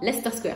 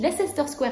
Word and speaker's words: Leicester Square: mais c'est Lester square attention ça s'écrit Leicester Square mais ça se prononce donc vous skippez la syllabe du milieu et vous dites simplement la star square parce que si vous dites lassister Square à quelqu'un pour trouver votre